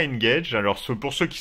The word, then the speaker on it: Engage: peu bizarre parce que ça se prononce comme le Nokia une gage alors c'est pour ceux